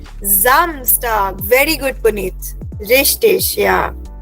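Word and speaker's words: Samstag: सो एस in German gives the sound of ji. Correct. So this word will be रेड एज जमस्टग।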